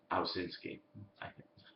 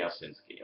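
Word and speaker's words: Owsinski: name is Bobby oh ausinsky and sorry Bobby I keep from this pronouncing your name all the time his name is Bobby osinski okay um I have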